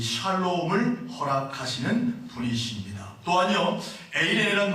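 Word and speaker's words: εἰρήνη: 여기서 화평이라는 단어는 헬라어로 에이레네라는 뜻입니다. 에이레네는 말입니다. 뭐라고요? 에이레네. 네, 따라합시다. 에이레네. 제가 발음이 안 되네요.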